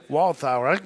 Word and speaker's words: Walthour: Pronounce his name. Is that how you pronounce it? I think it's Walthour. Walthour. That's good.